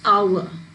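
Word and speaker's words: hour: presence of three vowels our and here also it's pronounced as our because h is silent say flower flower you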